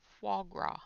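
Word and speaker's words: foie gras: I want to eat flaw flow grow I'm not saying that right at all Foie gra there we go it was going to drive me crazy until I was able to say it correctly so yeah I'm quite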